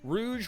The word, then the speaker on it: Rouge: like really close spellings Rogue and Rouge Rouge which means red based in French and then Rogue which you know is just Rogue and so when the